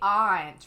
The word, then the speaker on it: aunt: Flood, you say aunt, rhyming with haunt.